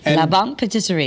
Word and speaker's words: La Bonne Patisserie: How do you pronounce properly your bakery in Simsbury? Yeah, it's called Le Bon Patisserie. La Bonne Patisserie.